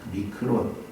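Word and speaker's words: μικρόν: 이 조금 있으면에 해당하는 헬라어는 믹논 혹은 미크론이라고 읽히는 단어입니다. 미크론 어디 여러분 아는 단어랑 비슷한 발음 아니에요? 미크론, 마이크로 이 말의 어원이 되는 단어예요.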